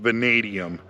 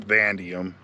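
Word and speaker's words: vanadium: Sorry, it's pronounced venadium, not vandium.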